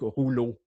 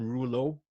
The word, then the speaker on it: Rouleau: Comme mon nom, moi, c'est un nom français, donc Rouleau. Ce n'est pas évident pour la prononciation pour les gens, donc j'ai mis une prononciation phonétique. R-U-L-O pour les gens qui sont anglophones. Rouleau, ils comprennent.